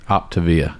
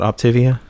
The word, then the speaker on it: Optavia: Optavia. Optavia? Yeah. It's not Optivia? Some people pronounce it that way, but when I've done the Zoom meetings for the initial consult or whatever, they always say Optavia.